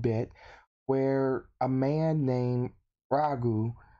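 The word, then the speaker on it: Raju: Now, we gotta go back a good bit, where a man named Ragu, I believe it's spelled R-A-J-U, so Ragu.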